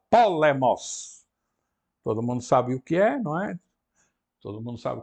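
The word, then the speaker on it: πόλεμος: Então, temos a primeira com o acento na antepenúltima sílaba, polemos.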